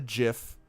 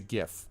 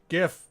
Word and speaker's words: GIF: as God intended alright gif he pronounced it - penguin you have to like go out of your way to mispronounce that though penguin it's not jiff that's peanut butter that is peanut butter